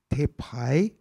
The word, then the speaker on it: Te Pai: I'm sitting there going, you're having problems saying Te Pai, Sagrada Familia, Te Pai, two syllables.